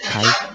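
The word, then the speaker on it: χ: Huruf X ini tulisannya adalah C, dibacanya adalah Kai.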